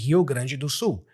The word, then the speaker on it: Rio Grande do Sul: You don't have to pronounce it with an English accent or pronunciation. So I read it because I speak Portuguese and I am from Brazil. I read it like a Brazilian.